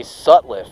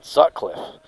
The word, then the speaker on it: Sutliff: six to eight jay sutliff i've been saying his name wrong all night too god bless me jay sutliff i'm saying sutcliffe so with the rbi